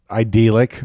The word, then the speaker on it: idyllic: That is idyllic, right?